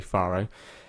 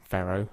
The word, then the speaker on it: Faro: It's just a one-off full flight from Faro, I think that's how you say it, or Faro. Or Faro. I think there's different ways to say it depending on where you're from, but I would say Faro. I think Americans say Faro.